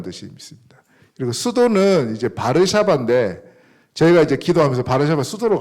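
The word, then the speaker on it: Warszawa: 꺼주시면 영어식 발음은 저거를 W 발음은 원래 그 독일어나 폴란드어는 비로 발음하거든요 근데 저기 w를 원래는 이제워 이렇게 발음하잖아요 그래서 영어식으로는 바르샤바라 월서라 그런대요 월서 한국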